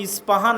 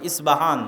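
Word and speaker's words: Isfahan: আমরা প উচ্চারণ করি ইস্পাহান আরবিতে এটা উচ্চারণ হয় না আরবিতে হয় আল আসবাহানি বা উচ্চারণ হয় ইসবাহান বা আসবাহানি সেখান থেকে 70 হাজার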